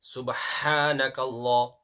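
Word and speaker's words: سبحانك الله: Subhanakallah. It's not Subhana. Subhana. Subhanakallah. Humma. The next ha. First ha was ha. Next ha is normal ha.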